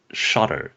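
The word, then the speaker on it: Shottr: app that I cannot live without is called shotter so it is a screenshot app it's spelled s h o TTR um the the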